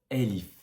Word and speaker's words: ا: Par exemple, quand toi tu prononces le A, tu dis A, alors que le alif c'est vraiment elif. Elif, c'est comme si c'était un E, mais mélangé à un A.